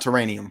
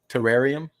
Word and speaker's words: terrarium: what what do you how do you pronounce it terrarium or teranium it's definitely not terranium it's not ter now